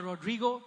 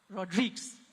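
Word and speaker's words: Rodrigues: let me call on Jemima Rodrigo and I got the pronunciation right Rodriguez okay I I went for the Spanish pronunciation is as you know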